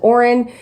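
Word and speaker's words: Auren: that there's the main character's name is oren um or that's how i pronounce it a-u-r-e-n uh and she is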